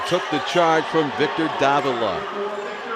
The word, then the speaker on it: Davila: He took the charge from Victor Davila. They pronounce it Davila here.